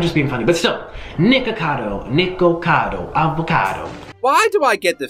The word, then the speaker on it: Nikocado Avocado: People, say my name right, please. It's Nikocado Avocado. Nikocado, there's an O.